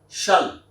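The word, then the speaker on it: shalt: different way for example s-h-a-l-t you need to pronounce it as a shall you need to pronounce it as shall thou build it build it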